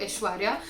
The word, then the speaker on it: Aishwarya: So I didn't want myself to be called as or something else, so I would make sure that people practice and pronounce it to Aishwarya.